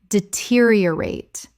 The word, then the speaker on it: deteriorate: Deteriorate. 5 syllables with the stress on the second.